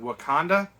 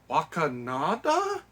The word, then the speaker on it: Wakanda: age of ultron um tries to pronounce the word wakanda and he says wakanada and it's like i